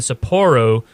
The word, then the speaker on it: Sapporo: a two-day event and supportin sapporo thing is how you say it over in Japan new beginnings that's January